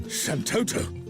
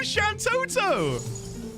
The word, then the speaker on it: Shantoto: Santoto. Oh, Shantoto. Someone joined the group earlier called Shanto, though I think I pronounced it Shanto.